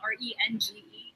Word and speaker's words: Renge: Yeah, well, Range actually pronounced as Renge, but no one could pronounce Renge.